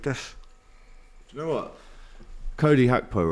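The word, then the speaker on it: Gakpo: you know what Cody hackpo right that's how you pronounce it in in Holland yeah that's actually how you do it Jack Collins taught me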